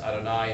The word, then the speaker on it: Yahweh: In fact, the name of the Hebrew God, Yod-He-Vav-He, pronounced Adonai in traditional circles, but most likely pronounced as Yahweh, also sometimes comes out as Jehovah, depending on who's doing the telling.